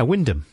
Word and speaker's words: Wymondham: Big Jim at work in Wymondham. Wyndham. No, it's not spelt like that. Yeah, but sometimes things are spelt in a different way to that. The pronunciation. It's the fourth one down. Wymondham. Yeah, Wyndham.